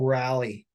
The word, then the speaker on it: Raleigh: who's up at bat Cal rally it does have rally in his name spelled like Raleigh like the capital of North Carolina no is it the